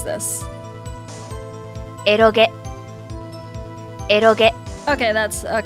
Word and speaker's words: eroge: How to pronounce this? Eroge.